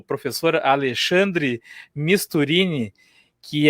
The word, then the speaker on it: Misturini: com um convidado especial aí, o professor Alexandre Misturini, que é Misturini, né? Esse, tá certo a pronúncia?